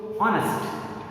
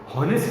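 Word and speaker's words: honest: सो ऑनेस्ट, हॉनेस्ट नहीं थे, ऑनेस्ट, एच ओ एन ई एस टी, ईमानदार, एच ओ एन ई एस टी, ऑनेस्ट।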